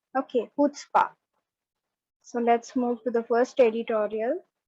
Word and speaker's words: chutzpah: तो आप याद रखना कि ये जो CHUTZ जो वर्ड है that will be pronounced as HUTSPA. Okay, chutzpah.